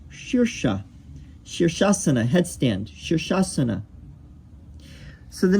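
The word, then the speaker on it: शीर्ष: You would think this is sirsa, but it's more like shirsha.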